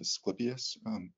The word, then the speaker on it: Asclepius: And then with the rocket blasting off with, well, there's the classic, how do you pronounce it? Rod of Asclepius.